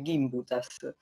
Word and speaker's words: Gimbutas: mio lavoro di traduzione mi disse che l'accento del nome della loro famiglia e sulla prima sillaba 15 dice gimbutas più importante della vita